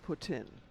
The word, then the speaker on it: poutine: It is Canadian, but it's pronounced poutine, as in put in.